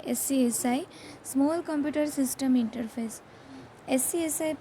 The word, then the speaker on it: SCSI: SCSI, pronounced as SCSI, is a system level interface instead of a device level interface.